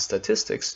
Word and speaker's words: statistics: The stress is on tis, and if you find